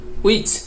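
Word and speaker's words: which: আর এটা অয়ার, এটা হচ্ছে ওয়াই, এটা হচ্ছে উইচ, এটা হচ্ছে অয়েন। এইভাবে আপনাদেরকে উচ্চারণ করতে হবে।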